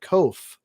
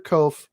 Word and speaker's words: Koch: on the end so we we pronounce it kof rhymes with loaf and when i did my teaching my student teaching and my substituting i always had to say i'm mr koff rhymes with loaf and